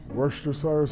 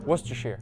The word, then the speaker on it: Worcester: Worester Cyrus sauce. You were close. Worcester.